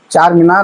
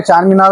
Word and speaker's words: चार मीनार: चार मीनार है असल वो। जी। अब बोलने में प्रोनाउंस करने में चांद मीनार बोलते हैं। हां। चांद मीनार तो कोई है नहीं। चांद थोड़ा ही है वहां।